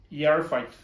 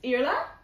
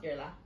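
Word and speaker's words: Iarla: scary i would say the first name is pronounced yar fight nearly it's irla you're okay so the eye aor is ear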